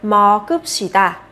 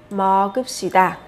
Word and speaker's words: 먹읍시다: Và khi đọc thì các bạn nối âm bát chim lên để đọc nhá, sẽ là 먹읍시다. 먹읍시다.